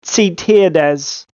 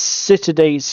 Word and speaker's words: Ziterdes: Now, we've had coaching from a German on how to pronounce this. I think it's Ziterdes, or similar.